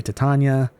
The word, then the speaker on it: Titania: People say Titania. I say Titania, because that's just how I grew up, alright?